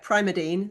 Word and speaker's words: Primadine: Now let me say it right. Primadine. Is that the way to say it? Yep, for the new prime of life.